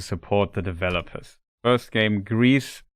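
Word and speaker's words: Gris: First game, Greece. It's spelled G R I S.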